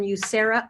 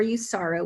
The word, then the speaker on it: USARA: lake city and you i'm from ucera or usara we can pronounce it either way and that's utah support